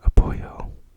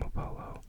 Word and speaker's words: Apollo: If I were Spanish, I would pronounce that Apoyo. But I'm not Spanish. And neither is Apoyo. So I will be calling him Apollo.